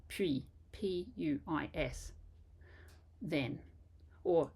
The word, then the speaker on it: puis: It also doesn't help that many textbooks write pronunciation explanations with English sounds, so they'll write P-W-E-E for puis. And in fact, it's not a W sound at all, certainly not